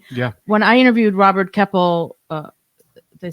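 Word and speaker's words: Keppel: did too and yeah when I interviewed Robert keple uh did I say his name right yeah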